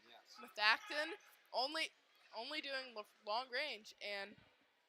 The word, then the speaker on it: Methacton: Is that how I pronounce it? Methacton, yes. Methacton, only doing long range, and it's.